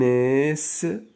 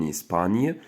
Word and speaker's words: Espagne: En Espagne. Donc, GN كنطقوها ني. D'accord?